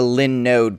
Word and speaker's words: Linode: Yeah, so they are Linux-based, and they're node-based, so that's where the Linode comes from.